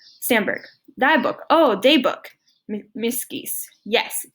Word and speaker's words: dagboek: Miep Geese, dagboek. Stamberg, dagboek.